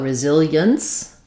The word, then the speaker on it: resilience: And then when we're talking about resilience, again, we can have e-ence, resilience, or just resilience.